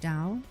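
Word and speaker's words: Tao: Tail is Chinese for the way it's pronounced more like dao dao but not exactly.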